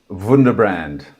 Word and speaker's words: Wunderbrand: called, say it with me, From Startup to Wunderbrand, or Wunderbrand. Wunderbrand. How do you say it, Nicholas? Wunderbrand.